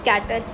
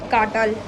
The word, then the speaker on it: Çatal: Kartal, it's not cattle, I would pronounce it as Kartal.